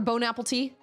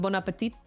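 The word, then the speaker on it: bon appétit: Or bone apple tea. I guess it's not quite the same. Well, no. Yeah, it is. Bone apple tea instead of bonapet.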